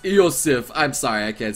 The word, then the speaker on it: Iosif: It is pronounced Iosif.